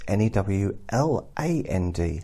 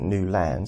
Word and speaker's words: Newland: And he pronounces it Newland so that people know how it's spelt. So when they're searching for the website or searching for him, they're not putting Newland in, L-U-N-D.